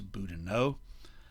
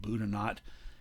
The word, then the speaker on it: Boudinot: boudinot on the right now it looks like if you speak french that that should be elias boudinot he and his family pronounced it buddha not he named himself uh